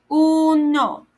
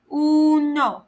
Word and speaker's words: uno: 1, uno, 1, uno, U-N-O, uno.